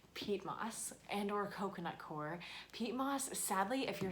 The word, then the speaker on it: coir: And as an alternative, there's coconut coir. It's also sometimes called coconut coir. It's spelled C-O-I-R, coconut coir.